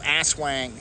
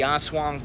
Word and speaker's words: aswang: It looks like it's spelled aswang, but aswang, I think it's pronounced.